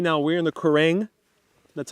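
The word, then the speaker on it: Quiraing: So right now we're in the Kerrang. That's how that's pronounced, Kerrang.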